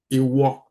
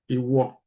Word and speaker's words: ìwọ: If you want to say you, ìwọ, ìwọ, ìwọ. That's the way you pronounce it, ìwọ.